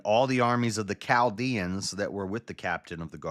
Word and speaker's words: Chaldea: Yeah, every other time you see a CH, like an archaeologist or Jericho, it's a cuss sound. So I should have always just pronounced it Chaldea.